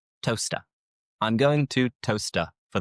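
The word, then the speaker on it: Towcester: But looking at this, you would think it is toester, but no, it is toaster.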